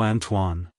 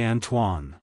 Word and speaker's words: Antoine: to pronounce it correctly emphasize that TW sound and soften the uh in the first syllable also stress the N at the end like hello Antoine goodbye Antoine if you found the